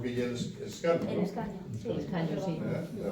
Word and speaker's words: escaño: Puedo falarte del escano, allí la ñ no la pronunciamos. ¿Sabes lo que es el escano? El escaño, sí.